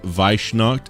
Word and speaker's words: Weissnacht: It's pronounced Weissnacht. It's German.